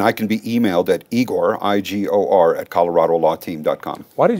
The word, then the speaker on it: Igor: In Russian, it's pronounced Igor.